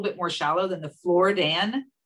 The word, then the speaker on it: Floridan: I thought you were mispronouncing Floridian. Right, I know, Floridan. Mm-hmm. Floridan aquifer, which is, correct.